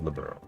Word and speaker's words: Liberl: Off to the beautiful Valeria Lake, extolled in many a rhyme as the Pearl of Liberl. And that's the other reason I pronounce it that way. Pearl of Liberl.